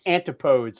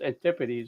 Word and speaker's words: antipodes: It's like antipodes, and that's how a lot of people pronounce it, but it's antipodes.